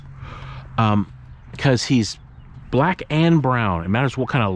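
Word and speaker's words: Blrown: we mushed up the two words black and brown and he completely responds to his name it's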